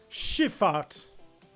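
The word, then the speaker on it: Schiffahrt: I'm turning what that word is in German she fought so it's just a term for a maritime transport but now it's spelled s-c-h-i-f-f-a-h-r-t there are certainly some of you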